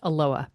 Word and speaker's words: Aloha: It is pronounced Aloha.